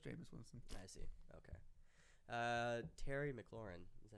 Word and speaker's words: Terry McLaurin: Terry McLaurin.